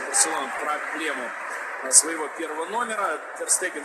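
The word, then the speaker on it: Ter Stegen: Не Тер Штеген, как, наверное, многие из вас привыкли, а Тер Стеген.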